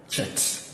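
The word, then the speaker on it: חית: And this one is like when you are spelling the word church, which begins like CH. So this is called chet. So it's pronounced like that with this chet.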